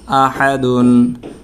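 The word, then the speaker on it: أحد: হা দাদুই পেশ দুন আহাদুন কুলহুয়ল্লাহু আহাদুন এখানে দালের মধ্যে আমরা ওফ করলে দাল সাকিন হয়ে যাবে জজম হয়ে যাবে তখন কলকলা করে আমরা উচ্চারণটা শেষ করতে হবে। কুলহু আল্লাহু আহাদ আহাদ কলকলা হবে।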